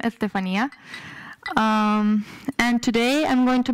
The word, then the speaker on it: Estefania: That's how you pronounce my name, Estefania.